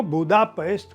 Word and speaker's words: बुदापेस्ट: तो वो बुदापेस्ट को इसलिए कहते हैं क्योंकि ट और ड जैसी कठोर ध्वनियों का उच्चारण हंगेरियन में नहीं होता, यानी ड और ट है नहीं तो ये बुदापेस्ट ही होगा।